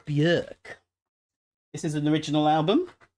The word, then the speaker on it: Björk: Vespertine went off Bjork a little bit. Björk, sorry, saying her name wrong. Björk.